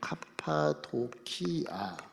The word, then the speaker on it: 카파도키아: 발음으로 보면 카파도키아 그렇게 돼 있어요.